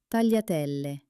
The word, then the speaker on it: tagliatelle: Tagliatelle.